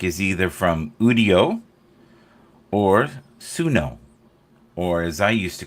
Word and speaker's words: Suno: All the music is either from Udio or Suno, or as I used to call it, Suno. Suno is the proper pronunciation of it.